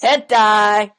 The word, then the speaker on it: hentai: Hentai!